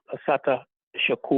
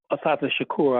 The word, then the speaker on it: Assata Shakur: rabba man and uh we just lost uh Asata Shaku. or Assata Owali. Let me I mis let me let me correct that. Assata Shakur.